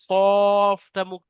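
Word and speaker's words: ق: আমরা যে অক্ষরটা পড়লাম এটা কফ পরিষ্কারভাবে উচ্চারণ করবেন কফটা গলার ভিতর থেকে আসে কফ এটাকে বড় কফ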